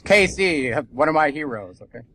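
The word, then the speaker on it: Cayce: same person but okay there you go it's Casey one of my heroes okay be sure you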